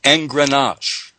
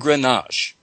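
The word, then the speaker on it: engrenage: new word to examine and this word is pronounced n grenache it is spelled e as in edward n is in nancy g r e n as in nancy a g e and grenache at my research notes page invisible surf's collar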